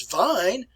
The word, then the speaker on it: Wein: If we pronounce this word as vine, I'm talking about wine.